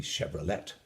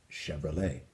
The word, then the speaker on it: Chevrolet: what you have with Chevrolet, the automobile. That was a French, if that were an English word, it would be Chevrolet, but we know it's French, so we call it Chevrolet.